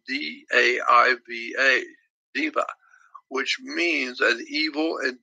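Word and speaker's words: daiva: Spanish is D-E-U-S, but in the old Persian, D-E-U-S is spelled D-A-I-V-A, Diva, which means an evil and demonic god.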